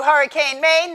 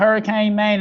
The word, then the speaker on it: HurricaneMain: You can find HurricaneMain, and I'll let you know. Main is spelled M-A-I-N, like rain with an M. Don't put an E on the end.